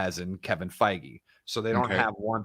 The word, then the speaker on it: Feige: say his last name is it kevin feige feige okay if yeah if you don't have like